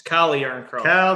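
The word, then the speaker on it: Calle Järnkrok: It's Calle Yarncroke. Kale, spell it like Calvin. Don't put a couple of E's on the end.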